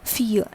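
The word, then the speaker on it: filles: fille and it becomes fille. That is, the pronunciation remains the same but an extra s gets added over to the fille.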